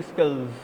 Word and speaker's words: skills: This is why we have given the name thanking skills. Whenever we pronounce skills, so this S will be pronounced Z.